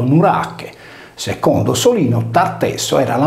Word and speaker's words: Norace: Egli non rimase senza discendenza, poiché sua figlia Eruteia ebbe da Hermes, l'Erminzone sardo, un figlio di nome Norace, pronunciato Nurache.